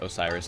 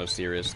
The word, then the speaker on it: Osiris: yeah that was stupid I wish I knew it was Osiris not as serious I just said it